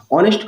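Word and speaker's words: honest: ऑनेस्ट का जो उच्चारण है वो ओ यानी कि स्वर से शुरू होता है।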